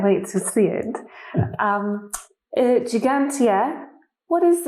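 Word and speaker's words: Ġgantija: maltese means giant giant in the maltese we have got two g's one soft g and one harsh g and gigantia has got the twos the first two g's so gigantia it's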